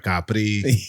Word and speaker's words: Capri: And I've been to Capri, but I never been to I don't know if I'm saying it right. Capri. That's Capri.